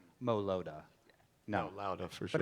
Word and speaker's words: Mo Lowda: I'm actually introducing you, and there has been, again, debate about how to pronounce the band's name correctly. I've been saying Mo Lowda, like It's turn Mo it up Lowda.